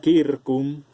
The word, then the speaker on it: circus: latín vulgar circo pero en latín clásico lingua latina la ce se pronuncia como k entonces en español pasa como circo en latín se pronuncia a kirkuk kirkuk las escena como